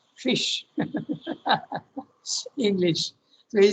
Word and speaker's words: ghoti: GHOTI, okay? GHOTI. How will you pronounce it? Ghoti, no? But he says no, it has to be pronounced fish.